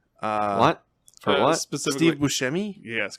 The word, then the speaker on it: Buscemi: yeah yeah yeah and buscemi to make a sh like the c in italian is usually a ch noise not a or a s or whatever so we get a weird